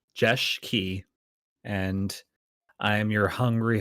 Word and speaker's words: Jeschke: I am Jeschke. That's how you say it. It's Jeschke, and I am your hungry host, so to speak, for the stream that we're doing today.